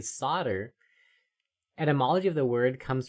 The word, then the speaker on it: solder: British may have started pronouncing the L under the influence of French or Latin where the Americans kept the 14th century pronunciation.